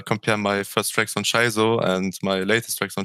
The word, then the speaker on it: Shizo: okay here we have shaizo so i was like okay that sounds better than schizo yeah so kind of sounds like the sh dog like shih tzu dog um but yeah like